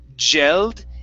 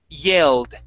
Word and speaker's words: yelled: Now, on this word, make sure you're using an English Y instead of a Spanish Y. So instead of saying gelled, it's E. Start off with an E sound. Yeah. Yelled.